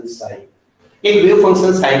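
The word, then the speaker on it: psi: इस wave function साई इसका P silence रहता है एंड इसको प्रोनाउंस किया जाता है this is wave function साई।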